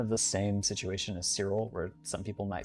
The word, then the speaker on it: Cyril: Some people get Sirill's name wrong. I've had people say Cyril instead of Sirill. Um, but it's it's Sirill.